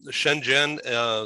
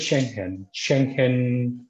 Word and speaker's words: Schengen: Yeah, Shenzhen, the countries within the EU that have an alliance. Oh, sorry, same thing. Okay, sorry about that. Okay, how should I pronounce it? Well, we pronounce it Schengen countries.